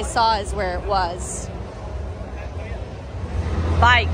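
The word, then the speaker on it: BAIC: is where it was bike that's how he pronounced it b-a-i-c so I'm gonna do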